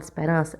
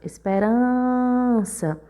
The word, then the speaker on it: Esperança: quando a gente chama a palavra Esperança Esperança Observe que a gente demorou mais nuran então uram é a sílaba tônica da palavra e por pelo Lance a penúltima sílaba essa palavra também é paroxítona a palavra pêssego Quando